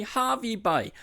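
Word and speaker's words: Hervey Bay: no the locals say Harvey Bay I have never seen Harvey spell with two e anywhere else ever before maybe it has been but the local say Harvey Bay and that's how it's pronounced so I don't really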